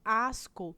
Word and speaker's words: asco: Já no exemplo asco, perceba que nós temos o SC também, no entanto, eu pronuncio tanto o S em as, como eu também pronuncio o C em co, né? Então, aí, esse C eu